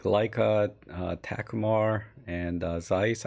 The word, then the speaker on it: Takumar: Arthur is asking, any thoughts on using higher quality higher quality vintage lenses like Leica, Takumar, and Zeiss? I think it's Takumar, not Takuma, right? But I could be wrong.